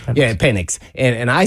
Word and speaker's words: Penix: they drafted penix right is that how you pronounce yeah penix and and I said Oh I thought it